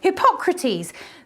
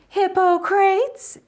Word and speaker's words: Hippocrates: chronic fatigue was oh hippocrates there are different pronunciations hippo crates if you're an american and wrong you pull gratis in a questionable greek accent but for today we'll stick with hippocrates because the womb was